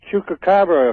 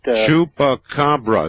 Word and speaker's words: chupacabra: Yes, one thing about the chupacabra, if I'm pronouncing that right. Chupacabra, sir.